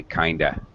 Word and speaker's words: kind of: We even modify the pronunciation, really. This is so common, we say kinda. It's kinda good. Sounds like one word, Kinda actually.